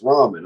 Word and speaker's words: ramen: Except I pronounce it Raymond like everybody loves Raymond. Everybody keeps going, but it's ramen.